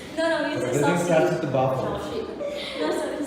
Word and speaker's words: Sasi: SASI can be Sasi, but my name is not Sasi, it is Shashi.